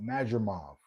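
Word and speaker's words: Madrimov: So he fought Spence then he fought Majimov.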